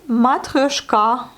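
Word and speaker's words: матрёшка: Matryoshka. Sauf qu'en russe, on le dit matryoshka.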